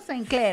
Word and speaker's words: Sinclair: ¿Se pronuncia Sinclair o Sinclair? Sinclair. Sinclair, como francesa.